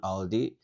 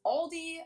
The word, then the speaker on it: Aldi: In English, people usually pronounce this Aldi. I think I've also heard Aldi before, but yeah, Aldi.